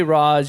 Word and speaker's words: Ra's al Ghul: I say Ra's, you can say Raish, whatever you want to pronounce it as.